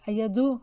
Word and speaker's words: ayadu: Also pay attention, ayadu, when it's she, is like du at the end, ayadu.